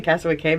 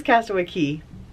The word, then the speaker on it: Castaway Cay: I think I keep saying Castaway Cay because that's how it's spelled, but it is Castaway Key.